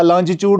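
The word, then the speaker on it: longitude: इसीलिए हमने पहले वो चीजें पढ़ी, लॉन्गिट्यूड लैटिट्यूड पढ़े, और अब, या लॉन्जिट्यूड उनको असल प्रोनाउंसिएशन, तो वो लॉन्जिट्यूड और लैटिट्यूड अब आपको काम दे रहे हैं यहां पर आपको समझने में।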